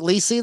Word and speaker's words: LiSi: So you want to talk about, on your indirects, you got the, Lisi, do you pronounce it Lisi, the lithium silicate, L-I-S-I? Lisi block, yeah.